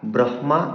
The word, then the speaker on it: ব্রহ্মা: তখন হ এর উচ্চারণ নাসিক্য ব্যঞ্জনের পরে করতে হয়। তো আর ব্রহ্মা বলা যাবে না।